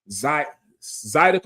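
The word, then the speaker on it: zydeco: Zidico or Zidco. You said it right the first time I said Zidico.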